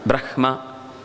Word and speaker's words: ಬ್ರಹ್ಮ: ಉಚ್ಚರಿಸಬೇಕು ಮಂತ್ರಗಳನ್ನ ಅಥವಾ ಶಬ್ದಗಳನ್ನ ಬ್ರಹ್ಮ ಹಕಾರೋತ್ತರ ಮಕಾರ ಅಂತ ಇರುವುದು ನಿಜವಾಗಿ ನಾವು